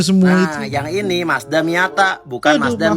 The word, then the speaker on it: Miata: Itu dia punya semua nah, yang ini Mazda Miata, bukan Mazda Miyabi, apalagi mie ayam. Nah, yang ini GTR, bukan GT Man. Ini dibacanya Estilo, bukan Estilo, apalagi Es Mambo.